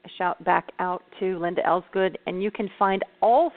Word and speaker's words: Elsegood: So, and I believe most it's got important 3 syllables. Her last name is Elsegood.